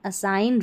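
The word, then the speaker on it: assign: जैसे साइन, डिज़ाइन, असाइन, रिज़ाइन, यहाँ पर उच्चारण आप देख ले हिंदी में दे रखे हैं।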